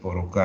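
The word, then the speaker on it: порог: In the word porok here, for meaning threshold, the phoneme is k, but in the word porok meaning vice, the phoneme is k, but they are pronounced the same in the final position.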